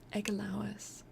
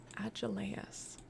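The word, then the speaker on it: Agelaus: Egalois. Agelois. Ealois. Like you haven't been there the whole time. I'm sorry. Thank you. Agileas. Okay, so I was saying it wrong. Agileas.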